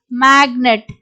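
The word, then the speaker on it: magnet: வந்து சவுண்ட்ஸ் வந்து கொடுக்கிறோம் ஓகே சோ எக்ஸாம்பிள் பாருங்க மேக்னெட் முன்னாடி சைன் என்ற வேர்ட் பார்த்தோம் அங்க வந்து ஜி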